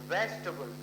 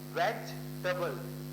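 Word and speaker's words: vegetable: और वी से है वेजिटेबल, तो दोस्तों हम इसको टेबल नहीं बोलते, ये शुरुआत से आप ढंग से अगर प्रोनाउंसिएशन सीखोगे तो मुझे अच्छा लगेगा। वी से है वेज और टी से है टबल, वेजिटेबल, ठीक है। तो हम इसमें क्या साइलेंट है, इसमें ए जो है वो क्या है, साइलेंट है, तो प्लीज इसको प्रोनाउंस मत कीजिएगा।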